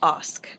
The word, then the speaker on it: Ask: here today with Osk. Did I say that right? It's spelled like ask, but it's pronounced Osk.